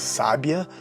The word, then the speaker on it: sábia: Peguemos as palavras sábia, sabia e sabiá. Cada uma possui uma sílaba tônica distinta e com um significado próprio, completamente diferente das outras.